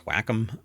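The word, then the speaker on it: Wacom: I even sat down like uh some people pronounce it wake them but it's whackom. So whackom tablets um I used to use those and I stopped.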